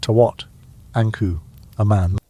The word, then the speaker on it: Tutankhamun: when you say it produce a sound somewhere in the neighborhood of Tawat, Anku, a man.